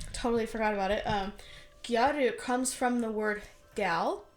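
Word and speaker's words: gyaru: power type thing and then Japanese have a difficult time with pronouncing the letter L so it became G garu that's how we get guu over time very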